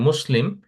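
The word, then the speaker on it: مسلمة: এটা লাস্টে যদি দেন তাহলে মুসলিম, এটা শেষে একটা গোলতা দিলে এটা হয়ে যাবে মুসলিমা। এটা যেহেতু এটা গোলতা, এটা আমরা পুরোপুরি তা উচ্চারণ করি না, এটা হায়ের মতো উচ্চারণ হয়।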